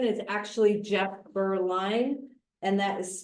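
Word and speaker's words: Beaurline: the first batch, um agenda item six, Jeff Berlin is actually Jeff Burline, and that is spelled B E A U R L I N E.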